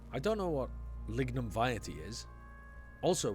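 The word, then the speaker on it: vitae: lignum vety is also would that not be pronounced Vite is that how you pronounce that vety lignum vety I've never heard that pronunciation before he pronounced it wrong yeah I thought it was V the narrator sometimes mispronounces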